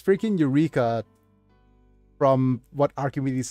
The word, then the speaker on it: Eureka: It's spelled in Japanese as Eureka, and in the series they call it Ureka 7. It just feels, because the pronunciation is not correct. But yeah, it's freaking Eureka, from what Archimedes says